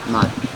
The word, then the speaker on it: Mod: Mod. Mod. Hi. How do you spell that?